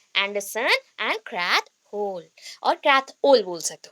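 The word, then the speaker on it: Krathwohl: एंड क्रैथ whole, और क्रैथ ओल बोल सकते हो, क्रैथ ओल। एच एक्चुअली प्रोनाउंस नहीं होता है, साइलेंट रहेगा, क्रैथ ओल।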